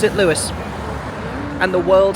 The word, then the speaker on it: Louis: Very excited to see A Wonderful World, the Louis Armstrong musical.